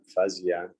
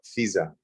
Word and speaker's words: Fiza: Oh, Fiza. Fiza. Fee, like hi.